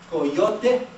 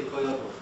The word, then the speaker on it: coyote: Last syllable, stress goes here. Any volunteers? Coyote. Coyote. Everyone, coyote? Coyote. Do not ever say coyote.